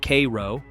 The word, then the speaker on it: Cairo: Cairo, pronounced Kay-row, sits at the southernmost tip of Illinois, where the Mississippi and Ohio rivers converge.